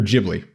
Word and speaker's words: Ghibli: the like Studio giveaway or Ghibli I I think is how it's pronounced actually but so Studio